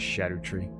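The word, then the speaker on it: Scadutree: I think you're supposed to pronounce it shadow tree.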